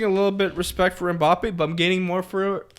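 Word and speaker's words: Mbappé: 3 syllables. Mbappe.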